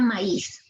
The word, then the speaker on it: maíz: refiero por ejemplo miren aquí tengo la palabra maíz si tengo la palabra maíz la fuerza de